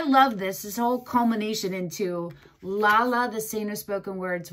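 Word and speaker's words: Lalla: Lala, I like to say it like that.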